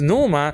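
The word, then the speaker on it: pneuma: they they instinc instinctively preachers don't pronounce the P they pronounce that they pronounce the letter after and the letter after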